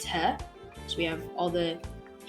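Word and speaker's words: ሂ: Our third letter is He, and He is written in English as H-I. He. Our fourth letter, which is Ha, is written using the English letters H-A.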